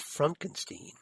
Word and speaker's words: Frankenstein: No, it's pronounced Frankenstein.